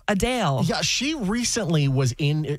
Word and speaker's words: Adele: are saying that uh the way that we say Adele is incorrect it's a Dale yeah she recently was